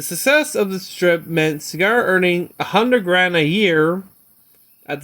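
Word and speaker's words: Segar: Seeger signed some of his earlier Popeye comic strip with Cigar, his last name being a homophone as Cigar, pronounced Cigar.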